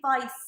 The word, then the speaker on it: Weiss: I'm saying Vice with a V, but is it Weiss? Because I'm just used to pronouncing things a little bit like German. So W is like a V, yes. And not a W.